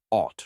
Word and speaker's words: ought: A helpful trick is to remember that ought rhymes with thought, reminding you that it's about what's right or expected based on reasoning or ethics.